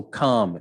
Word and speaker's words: calm: So calm, you don't speak the L.